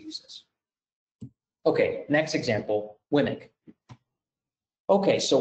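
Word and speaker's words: WMIC: this okay next example wimmick okay so we can pronounce winnick like i'm saying uh it's located there's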